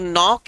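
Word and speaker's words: knock: अगर आप ध्यान से देखो तो नॉक एक ऐसा शब्द है जिसमें के साइलेंट, रॉन्ग एक ऐसा शब्द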